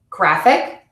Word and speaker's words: graphic: You stress the syllable before the suffix in words ending in ik, shun, or us. Graphic, discussion, conscious.